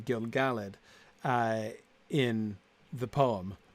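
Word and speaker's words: Gil-galad: Typically in Elvish names, the stress is on the second syllable. Exactly. Like you might think Imladris, except not. Clearly not in that line.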